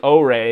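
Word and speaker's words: Orei: And then I also have the O-Ray, is how you pronounce it according to their own documentation.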